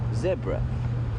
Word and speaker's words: zebra: television is American and when we hear Americans say zebra we um immediately say no no no no no it's not zebra it's zebra and shell you say you